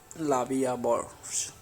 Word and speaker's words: La Vie en Rose: La Vie en Rose, literally life in prank, French pronunciation La Vie à Bourse, French L'amour, is a